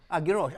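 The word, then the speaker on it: Geroch: How pronounce it? Garrosh.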